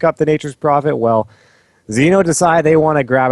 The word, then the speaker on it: Xeno: Or Xeno. It rhymes with Veno, which they banned out first there.